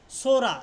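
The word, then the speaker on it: psora: সোরা।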